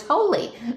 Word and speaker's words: Holi: And I always wondered how you pronounce that. And now I know it's holy. Ah, is that holy? Is it holy? how you pronounce that that it is holy.